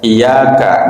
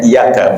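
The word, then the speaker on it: إِيَّاكَ: Ya, kalau Imam Ghazali menyampaikan dalam fikihnya itu kalau tasdid saja iyaka na'budu wa iyak iyaka dibacanya iyaka bukan iyaka misalnya enggak sah salatnya ya.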